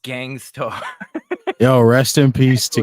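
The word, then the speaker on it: Gang Starr: by Pepsi Phil supports England halfway Esquire it's pronounced Gangstar yo rest in peace to Gangstar yeah Gangstar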